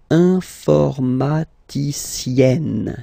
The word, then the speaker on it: informaticienne: And then, if you look carefully, then here, okay, you will have to double the N. And then add this final E, okay? And you get the sound informaticienne, sienne.